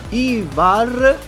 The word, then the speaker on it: Ivar: Ivar, l'ho pronunciato bene?